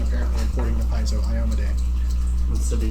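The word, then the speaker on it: Iomedae: And yes, that is the actual pronunciation, apparently, according to Paizo, Iomade. Instead of Yamade. Yeah. Say it again? Iomade.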